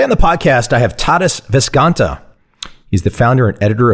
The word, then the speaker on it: Tadas Viskanta: want to make sure I've got a proper pronunciation before I start saying things that are not right. Tadas Viskanta?